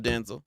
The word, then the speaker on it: Denzel: Hey yo, King, like Royalty said, I love Denzel. So just for people who don't know, like Denzel Washington, his name is pronounced Denzel.